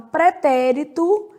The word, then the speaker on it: pretérito: Conhecia tá indicando que o verbo está no pretérito imperfeito do indicativo, que é pretérito. Pretérito. Só o assento que não é aqui, que é na outra sílaba, né?